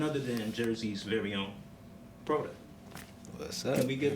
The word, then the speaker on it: Proda: My name is Proda. Yeah. Proda. Proda. We got it. Like prototype or protege or yeah.